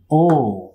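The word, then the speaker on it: 大: এই কাঞ্জিকে বাংলা উচ্চারণ হচ্ছে ও।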